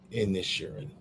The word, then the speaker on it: Inisherin: Inisherin.